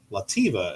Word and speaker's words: Latvia: This is a 1924 Latvia. Lativa, as some people pronounce it.